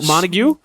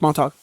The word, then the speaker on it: Montauk: We went to Montague. Well, Montauk? Patrick has a house. Yes, Montauk. Nobody knows how to pronounce it.